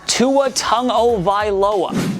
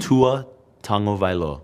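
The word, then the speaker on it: Tua Tagovailoa: Tu a Tango vioa say it with him guys Tua tongo vioa Tua tongo VOA say Tong o v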